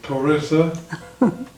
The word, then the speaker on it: Teresa: Isn't it pronounced differently in Spanish? Yes, I think so. Teresa, because the E's are pronounced as A in Spanish, although in English we call it Teresa.